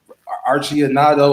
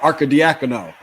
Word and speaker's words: Arcidiacono: Archie Anado. I can never say his name. Yeah. You're talking about Arcidiacono.